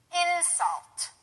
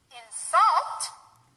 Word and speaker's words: insult: that's an action so by changing where the stress is you actually change the the meaning of the word it goes from a noun to a verb I'm going to give you some examples and you'll see okay insult that's the noun version of of the word an insult now if we change the where the accent is where the stress is to insult it becomes a verb he insulted me insult